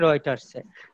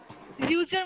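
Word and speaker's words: Reuters: এইটা ছাপাইছিল 15 ডিসেম্বর 2013 সালের 15 ডিসেম্বরে তোমার এইটাই ছাপাইছিল জন্সবার্গের রয়টার্সে. আমরা সেটাই পড়তে যাচ্ছি, তো পড়ো, শুরু করো. রিউচার মানে কি জানি স্যার, রিউটার না রিউচার উচ্চারণটা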